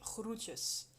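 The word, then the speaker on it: groetjes: et donc en fait l'équivalent du bien cordialement en néerlandais c'est Rutios qui s'écrit G R O E T J E S.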